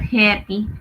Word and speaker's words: happy: like and and also you say happy not happy not a sound but happy AE sound happy happy happy happy happy